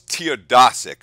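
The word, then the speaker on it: Teodosić: Was his name Milos Teodosic, I believe. Teodosic or Teodosic. It's got to be an O, because that would be the Eastern European pronunciation.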